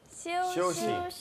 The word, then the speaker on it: 休息: 쉬오시.